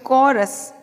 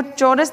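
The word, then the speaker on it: chorus: तो इसे देखो कैसे बोल रहे हैं, कॉरस। हमें जो दिखाई दे रहा है वो चौरस दिख रहा है, लेकिन इसका उच्चारण होगा कॉरस।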